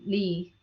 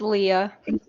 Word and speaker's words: Leah: Oh yeah, thank you, Dustin and Lee. Am I pronouncing your name right? or Lee? It's Leah. Leah.